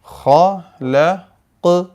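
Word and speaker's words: خلق: 2 ആയത്തുകൾ, 1-2 ആയത്തുകൾ വഖഫ് ചെയ്യുമ്പോൾ നമ്മൾ ഖലഖ് അലഖ് ഇങ്ങനെ ഖാഫും ഖാഉം മിക്സ് ആയിട്ടുള്ള ഒരു ഉച്ചാരണം, അത് നമ്മൾ വളരെ സൂക്ഷിച്ച് പരിശീലിക്കണം. വളരെ ക്ലിയർ ആയിട്ട് കാറ്റ് നടക്കാതെ ഖലഖ് ക്ലിയർ വോയിസ് ആക്കണം.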